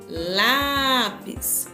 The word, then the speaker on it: lápis: Se eu falar assim, lápis, qual sílaba eu demorei um pouquinho mais? No lá. Então, a sílaba tônica é lá, tá bom?